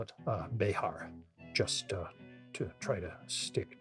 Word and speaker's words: Bexar: However, also according to Wikipedia, people who live in Bexar County have kind of localized the name, and they tend to pronounce it bear, almost like the animal.